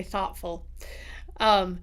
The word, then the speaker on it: thoughtful: Except in Utah where we say caught and bought, we also say thoughtful.